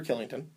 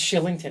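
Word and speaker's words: Kylington: get rid of Oliver Killington it's Shillington actually pronounced I was just gonna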